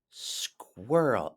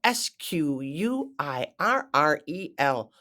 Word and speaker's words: squirrel: next up we have squirrel SQ u i r r e l squirrel squirrel that consonant blend of the SQ is very tricky and those RS oh my goodness squirrel oh isn't that